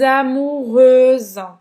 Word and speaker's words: amoureuse: E aqui você vai falar só o S no final, com esse sonzinho de Z. Je suis amoureuse.